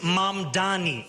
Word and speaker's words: Mamdani: Furthermore, the name is Mam Dani. M A M D A N I. You should learn how to say it because we got to get it right.